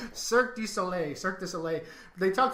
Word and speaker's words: Cirque du Soleil: And I know some people call it Circus Olay. That's what I call it, Circus Olay, but that's not right. Cirque du Soleil.